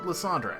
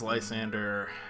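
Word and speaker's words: Lysandre: when I first played through this game and pronounced it LeAndre however as the official pronunciation is Lysander that is what it is I've tried to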